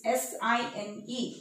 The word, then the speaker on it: sin: So this SINE will pronounce as sine of angle A. Instead of writing E, we'll just skip this and we'll write in short SIN, but we'll pronounce it as sine.